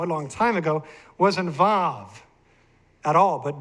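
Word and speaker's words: וו: This is known as the vav, this modern day Ashkenazi Hebrew. Now, according to Hebrew linguists, Hebrew scholars, they say the vav was originally a wow, and pronounced as a W.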